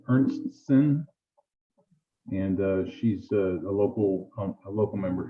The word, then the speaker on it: Ernstsen: pronounce her name Ernstson, and she's a local member here.